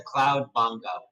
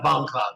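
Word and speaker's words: Bongcloud: not all of us I'm gonna play the cloud Bongo CL bong Cloud say it right yeah bong Cloud that's it that's it did you see the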